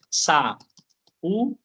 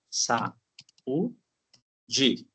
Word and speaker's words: saúde: Eh, sa u. Oi. Sau de. Então, percebam, pessoal, que eu tenho três sílabas, três partes. A palavra saúde se divide em três e eu tenho uma